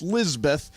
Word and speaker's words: Lisbeth: By the way, Lisbeth is a girl's name pronounced Lisbeth. It is of English and Hebrew origin, and the meaning of Lisbeth is "God is my oath."